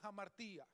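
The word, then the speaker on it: ἁμαρτία: palabra pecado proviene de un vocablo griego que se pronuncia a martín y la palabra ja martín significa literalmente fallar qué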